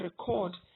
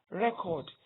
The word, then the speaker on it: record: So when you say record and you put the stress on the second syllable, you have the verb. But when you put the stress on the first syllable, it becomes record, and it is a noun.